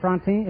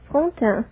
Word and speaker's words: Frontin: Miss Josette Frontin, is that right? Am I pronouncing your name correctly? Not very correctly. It is Frontin.